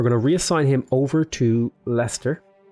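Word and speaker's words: Leicester: reassign him over to Lester I know that says leister lice light like Esther but it's Lester or yeah it's Lester is how you say it so let's improve that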